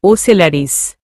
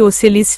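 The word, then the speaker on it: Ocellaris: শব্দতা উচ্চারণ হতে হতেও যেন হচ্ছে না। তখনই রৌশন বলে উঠে ওসলারিস।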